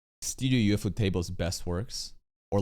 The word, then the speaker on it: Ufotable: And so I guess for people that were expecting Ufotable or Mappa level animation on Actually, it's pronounced UFO table, not Ufotable.